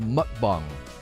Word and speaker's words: mukbang: her twitter her youtube it's pronounced mukbang it's a big korean trend it's weird because